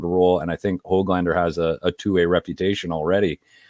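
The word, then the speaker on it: Höglander: Even Hoglander, I heard was the pronunciation in the scrimmage last night.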